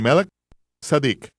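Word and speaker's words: מלכי-צדק: orden de Melquisedec o como se debe pronunciar de melk sadik melek Rey sadik justicia el orden sacerdotal del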